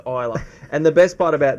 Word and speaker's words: Isla: And then Toby obviously corrects him and goes, no, it's Isla.